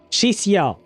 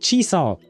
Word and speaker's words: Chixia: She pronounced it Chixia. Whereas when we pulled for Chixia, she pronounced it Chisa. Or something, I think, if I recall correctly.